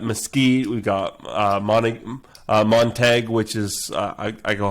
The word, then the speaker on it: Montague: we've got uh uh montag which is i i go hunting out there uh and it's spelled basically montague but it's pronounced montag well that would be